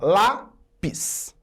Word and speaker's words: lápis: Olha, lápis é uma paroxítona, separando em sílaba, lápis. Eu tenho duas sílabas e a penúltima é a tônica, portanto ela é uma paroxítona.